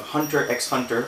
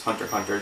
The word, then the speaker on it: Hunter x Hunter: Finally, for us over here at Geek World, we have the Netflix edition of Hunter x Hunter, or actually it's Hunter Hunter, the X is silent. Japan, man, I don't know.